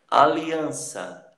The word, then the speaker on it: aliança: Aliança, aliança, aliança. Então, an é a última sílaba tônica.